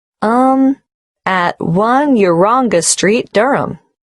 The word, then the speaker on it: Durham: at one uranga street durham how do you spell durham d-u-r-h-a-m of course i should know that but it's just one of those names that sounds quite different from the way you spell it it is confusing